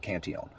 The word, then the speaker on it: Cantillon: Most people, when they think about it's Cantillon. He was a French guy, so that's the way he pronounced it, Cantillon.